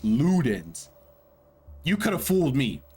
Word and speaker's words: Ludens: you listen to a song and call it Lutens? Because that it's spelled L U D Ns, right? Lutens. Ludens. Lutens. Okay. That's what it looks like to me. Uh yeah. Then the final song. Uh pronounced Ludens.